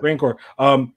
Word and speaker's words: Rancor: How do you pronounce it? Rancor.